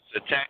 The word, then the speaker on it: Septet: You know the brother Septet, is that how you pronounce his name in England? Septet. Yep. Septet.